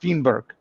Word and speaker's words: Fineberg: And uh this was his name, but it was pronounced Fenberg.